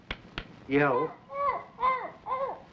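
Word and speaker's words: Yehl: was one of their great characters yell you spell that y-e-h-l up in the northwest among those north pacific indians yell is a great fellow and most of the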